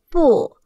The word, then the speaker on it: 不: 不，不，不，不，四声不。